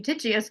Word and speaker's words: Eutychius: Now, Eutychius, let me say it correctly, Eutychius stated that there were 4,000 Jews at Tyre